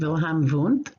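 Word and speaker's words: Wilhelm Wundt: perspective we'll start with wilhelm voont so spelled with w's but pronounced with v's 1932 to i'm sorry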